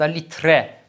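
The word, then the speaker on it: litre: لیتره یعنی چند لیتر دقت کنید لیتر نیست لیتره تلفظ میکنید سوت یعنی شیر آیران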